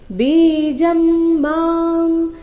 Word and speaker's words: ಬೀಜಂ: ಬೀಜಂ ma'am ಬೀಜಂ ಮಾಂ ಎರಡು ಶಬ್ದಗಳ ಕೊನೆಗೆ ಅನುಸ್ವಾರ ಉಚ್ಚಾರಣೆ ಮಾರೀತಿ ಬೀಜಂ ಸರ್ವಭೂತಾನ ಇಲ್ಲಿ ಅನುಸ್ವಾರದ ಉಚ್ಚಾರಣೆ ನಾಸಿಕ ವ ರೀತಿ ಬರಬೇಕು ಸರ್ವಭೂತಾನ ವಿದ್ ಪಾರ್ಥ ಸನಾತನಂ ವಿದ್